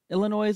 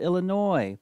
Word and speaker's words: Illinois: A lot of people pronounce Illinois incorrectly. They pronounce it Illinois, but guys, it has an S on the end. So Illinois.